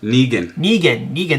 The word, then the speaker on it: Negan: Negan, that's how you say it.